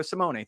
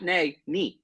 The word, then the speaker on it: Simone: that matter at Marco Simone thank you research for the proper pronunciations I'm looking at it right now Simone not nay knee Simone all right uh Marco Simoni thank you uh of